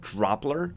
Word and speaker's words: Droplr: Uh, the tool I'm talking about is called Dropler. It's spelled D R O P LR and essentially it's a screenshot tool.